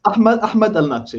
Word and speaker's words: Ahmad Al-Natsheh: Ahmad Al-Natsheh. Is that how you say it? Close enough. It's Ahmad Al-Natsheh.